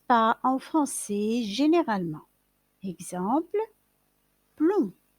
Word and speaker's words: plomb: Exemple, plomb. Il se termine par un B, mais on ne le prononce pas.